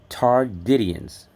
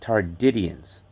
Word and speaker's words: Tardidians: It's called Tardidians, like Indians. Tardidians.